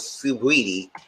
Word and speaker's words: Saweetie: know her name was Saweetie. I said, why she's freaking spell it? It's spelled like Saweetie. But oh well. But they said Sweetie. I said, where the A come from?